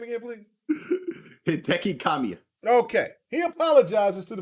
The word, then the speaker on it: Hideki Kamiya: I said his last name wrong. Damn. Let me be country. So, this man, say his name again, please. Hideki Kamiya.